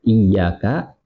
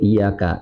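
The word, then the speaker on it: iyyāka: Dia baca iyyaka, dia bacanya tanpa tasdid iyyaka dan keadaannya lupa, maka dia dianjurkan sujud sahwi seperti itu.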